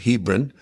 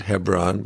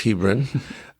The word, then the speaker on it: Hebron: My family actually lived in little town called Hebrin. Some people pronounce it Hebron, but it's Hebrin uh out there.